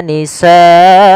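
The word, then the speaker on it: نساءكم: Nisaakum ada bacaan mad wajib muttasil yaitu pada lafal sanya. Di sini kita wajib memanjangkan sa sepanjang empat harakat sebagaimana lafal sua dan lafal abnaakum. Maka waastahyuna nisaakum.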